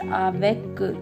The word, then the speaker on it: avec: Avec means with. Here we pronounced avec. We pronounced C.